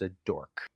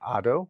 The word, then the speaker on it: ado: word for that is a dork. Okay, so fuss. Another word for fuss, commotion or ado. How would you pronounce that? Ado, not auto, but ado.